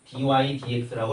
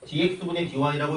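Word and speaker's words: dy/dx: 그래가지고 읽을 땐 dy dx라고 이렇게 위에부터 읽어줘. 근데 dx분의 dy라고 읽는다고 누구도 너네를 때리지 않으니까 편한 대로 하시고요.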